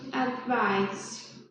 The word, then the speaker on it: advice: She gave me some good advice. She advised me to get some rest. There is also a pronunciation difference. Advice has an S sound, and advice has a Z sound.